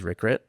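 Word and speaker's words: Rirkrit: And um and that's not how you say it in Thai, but everyone says Rickrit.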